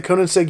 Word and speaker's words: Koenigsegg: Koenigseggs we got the Conan seg yes go it's actually spelled with a J but in Sweden it's actually a y sound actually in a lot of countries is like that but it's finished in